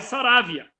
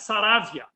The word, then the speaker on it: Saravia: Lá no Uruguai, Saravia. Tá? Igual essa pronúncia desse jogador internacional aí que é da Argentina, mas Saravia. Aqui, Saraiva. Tá?